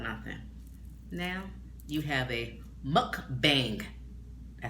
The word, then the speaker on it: mukbang: Now you have a mukbang.